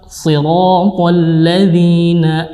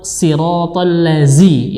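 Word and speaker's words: صراط الذين: Jangan sampai masih sirat ini salah, yang benar adalah siratal ladzi, kemudian lafaz zi ya, jangan sampai membaca siratal lazi ya, mengganti huruf za dengan huruf za ya, hati-hati ya, ini berbeda makhrajnya.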